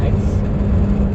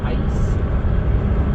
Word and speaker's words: Aix: big battle there in Aix. I say Aix, it's A-I-X, but it's pronounced like the letter X. Aix in Provence.